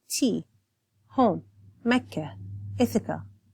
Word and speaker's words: Mecca: So, for example, Mecca, so I tend to have the soft H sound at the end, whereas opposed if you listen to Zaina's recitation, she says Mecca. So she has a softer A, where I have a softer H sound to end it.